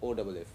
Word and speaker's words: off: and this word was OFF. What is the difference in the sound of these? In this OFF, you pronounce F precisely as F, off, and in this one, you pronounce it light and almost like V, of.